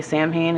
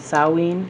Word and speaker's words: Samhain: they pronounce stuff like a lot of people say samhain and says sawween and it's because a lot